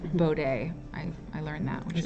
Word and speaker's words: Bode: these days um yes bowed with her clothes bode it's actually called it's actually pronounced bow day i i learned that